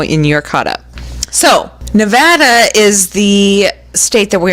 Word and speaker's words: Nevada: Nevada means snow-capped but if you say the state's name with the Spanish pronunciation Nevada you probably don't live there don't laugh for me locals usually pronounce it Nevada so Nevada or Nevada